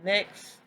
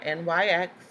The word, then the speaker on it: NYX: to find this is the mix or nyx however which way you want to prefer to pronounce it cheat contour duo palette